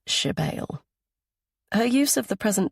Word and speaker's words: Sybille: Only my mother calls me Shebale, she says, pronouncing the word as Shebale.